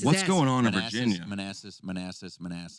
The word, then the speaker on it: Manassas: Manassas. How do you know it's called pronounced Manassas?